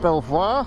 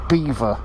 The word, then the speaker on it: Belvoir: cricket club so it's pronounced belvoir as in beautiful view from the french but the locals being locals as locals are everywhere sort of bastardized it and called it beaver because they're locals so